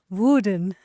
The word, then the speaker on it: Woerden: And today we are in, Woerden. Have I pronounced it correctly? I think so. This is my first time in Woerden, but I think you said it perfectly.